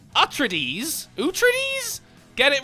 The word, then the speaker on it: Atreides: Atreides you trittyes says it's pronounced atre DS who trees get it